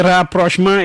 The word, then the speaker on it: rapprochement: It is spelled rapprochement. Rapprochement. It is pronounced its French way.